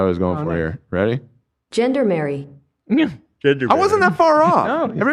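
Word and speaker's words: gendarmerie: I have the pronunciation of what I was going for here. Ready? Gendermary.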